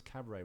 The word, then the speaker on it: cabaret: by the way because you pronounce Cabaret without the tea on the end so you're legit I